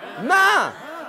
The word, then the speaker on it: min: But it's "m-i-n" and you say "Main"?